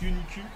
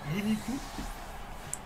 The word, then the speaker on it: Uniku: Ça se prononce Uniku. Uniku. Non, en japonais, le U se prononce U. Ça se prononce pas OU. Il n'y a pas de OU en japonais.